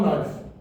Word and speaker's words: knife: the letter K now why is the letter K there we don't say it it's a silent letter but to spell knife correctly you have to have the letter K you know why